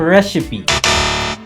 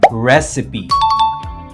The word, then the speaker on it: recipe: Yes, it's not a recipe. We say recipe. recipe with a stress on the first syllable.